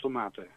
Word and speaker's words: tomaten: How do you pronounce it? I mean, Nederlandse tomaten.